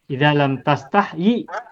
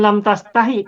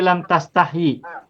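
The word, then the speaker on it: لم تستحيي: yastahyi artinya malu ya lam tastahyi bukan lam tastahi tapi lam tastahyi meskipun nanti ada sebagian orang yang bacanya lam tastahi yanya dibuang lam tastahi pasna Mas tapi semula adalah lam tastahyi Eh ynya ada dua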